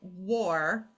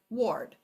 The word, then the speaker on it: ward: by reminding them that we have bossy W where where the W um makes this say war and then we build this word and this is the word not the word War it's excuse me it is the word ward okay so we use